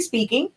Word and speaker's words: Spinking: And as she mentioned, we have a product line called Honestly Speaking. It's SPINKING. So it's actually pronounced speaking because y'all can tell I like to talk.